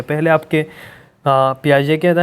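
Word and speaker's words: Piaget: cognitive three bye gene पियाज इसको पियाजे pronounce किया जाता है राइट थरी ऑफ लैंग्वेज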